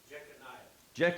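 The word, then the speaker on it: Jeconiah: going to throw in the name I can pronounce. Jehoah H. Jeaniah.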